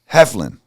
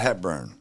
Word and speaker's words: Heflin: name wrong again Ken it is hefin not hebburn James appreciate you coming